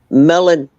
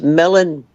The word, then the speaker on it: Milne: your last name m-i-l-n-e is it Milne or Milne melon like like a watermelon oh okay whenever I look at your name I I try and think of what the pronunciation of it is no it's melon melon it's so nice to